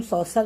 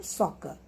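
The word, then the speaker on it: soccer: अब इसमें देखो सॉकर, इसको हम सॉसर नहीं पढ़ते, इसको हम क्या पढ़ते हैं? सॉकर. We pronounce both the letter C एज a single के साउंड, सॉकर, सॉकर.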